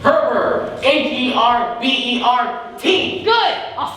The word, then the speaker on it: Herbert: Shut up, Humber. It's Herbert. H-E-R-B-E-R-T. Good. I'll spell it right on your grave.